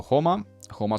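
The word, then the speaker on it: Joma: Liam Brody has gone to Homa Sport, pronounced in the Spanish way with the H for the J.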